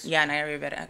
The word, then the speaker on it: Naya Rivera: Naya Rivera, I did say it right.